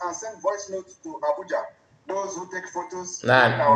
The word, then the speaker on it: Abuja: send voice notes to Abuja. Those who take photos. Now, there you go again. Did you see how the AI pronounced Abuja? Abuja. Abuja. not Abuja. Abuja, they are not the same.